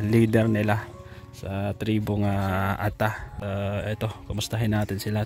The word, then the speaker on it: Ata: tribong ata or a Ano bang tamang pronounce Tay a or ata ah ata lang ata ata Ayan tribong ata